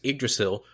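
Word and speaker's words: Yggdrasil: an earlier podcast that we see it's actually pronounced a drasil the The Tree of Life that flows throughout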